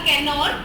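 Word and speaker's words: Cannanore: मंगलोर, कनौर या कैनौर, English में कैनौर बोलेंगे, हिंदी में आई थिंक कनौर इसका प्रोनाउंसिएशन होगा। कनौर, कन्नौज नहीं है, कैनौर, कन्नौर, कोचीन, कोचीन और कालीकट।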